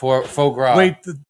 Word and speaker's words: foie gras: I think it was like jumbo shrimp and foie gras. Wait, How do you pronounce that? Foie gras? Foie gras? Faux gras.